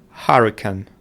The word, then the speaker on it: hurricane: So it's going to be a and hurricane. Hurricane is going to be the first syllable which is stressed.